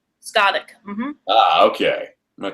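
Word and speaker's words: Scáthach: That's how you pronounce her name? Skavik.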